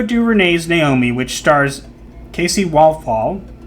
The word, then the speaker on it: Walfall: A new report claims that Ava DuVernay's Naomi, which stars Casey Walfall, I don't think I pronounced that correctly. Sounds like waffle.